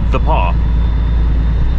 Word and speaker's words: The Pas: our way out of the Paw I don't know why they call it the Paw it's t-h-e like the and paw p-a-s it's like the pass but it's called The Paw I don't know much